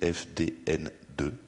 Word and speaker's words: FDNN: On a créé une association qui s'appelle le Fonds de défense de la neutralité du net, FDNN, qu'on peut prononcer FDN2.